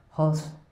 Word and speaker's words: Golz: So the Spanish G and J sounds are pronounced as H.